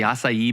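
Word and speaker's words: açaí: Do you remember when like the acai berry became like such a thing?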